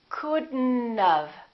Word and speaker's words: couldn't have: We pronounce the D and then we connect the D next to the N and then the O disappears, but the T also disappears. Watch this. We say couldn't and then we add this element. We do it like this. Couldn't have. Couldn't have. Don't pronounce the O. Don't pronounce the T.